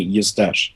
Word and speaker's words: Eustache: is you stash like mustache like with any you stash great so let's let's roll in here and